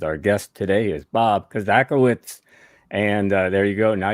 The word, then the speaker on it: Kozakiewicz: five fast questions Our Guest today is Bob kazaka witz and there you go now you know the pronunciation of Bob's last name now Bob has